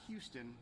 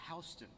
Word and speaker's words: Houston: is another fun one it's not houston in georgia it's houston houston county 196.